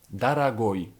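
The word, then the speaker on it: дорогой: końcówce na przykład słowo drogi to po rosyjsku darago No i już mamy odpowiedź nawet jeśli mamy którąś z tych trzech liter to i tak dla nas Liczy się to że Akcent jest na końcu i tak dajemy Oj czyli ta pierwsza pułapka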